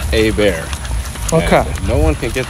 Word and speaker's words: Hebert: at it this way it's like the letter a and the word bear like like a bear in the woods so it's a bear okay no one can